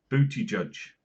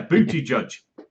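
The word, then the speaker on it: Buttigieg: about the American situation booty judge yeah booty judge that's how you pronounce it wait if he's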